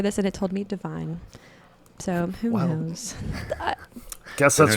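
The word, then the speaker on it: Devine: him go ad is divine I think it's divine okay cuz it's it's pronounced the same way as line like Adam livine and so people get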